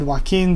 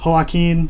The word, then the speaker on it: Joaquin: And Joaquin, if you change the H to a J, that is how the Spanish name Joaquin is spelled. And of course in Spanish the J has an H sound, so I figured that